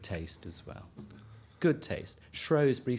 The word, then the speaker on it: Shrewsbury: But also, ask yourself, though, where does the pronunciation of Shrow come from? Why is it there if it's always been Shrewsbury?